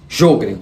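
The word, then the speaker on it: Sjögren: algumas glândulas como por exemplo a síndrome de jogr que se escreve s j o g r e n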